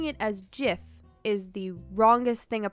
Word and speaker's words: GIF: well ted cruz 8 my son says so pronouncing it as jiff is the wrongest thing a person oh by